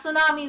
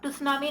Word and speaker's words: tsunami: और यहाँ सुनामी बोलते हैं हम, टुसनामी नहीं बोलते, right. So टी is silent here.